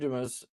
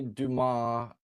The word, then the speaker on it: Dumas: Dumis, um we call you Mr. Dumis, but Ronnie Duma is what Ronnie went by. Uh we know that Ronnie changed his name. You know, he that's how Ronnie pronounced his name. But you do pronounce your last name, Dumis.